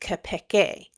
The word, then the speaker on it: Keipeki: It is called Kapeke. Or and in Swahili, it is pronounced Kapeke.